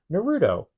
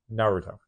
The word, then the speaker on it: Naruto: speaking the language it's usually like the first syllables where you put the emphasis and then because like Americans always say Naruto no it's Naruto it's common rider it is common writing one